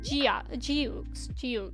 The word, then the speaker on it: Geox: Geox is pronounced like Geox, like that.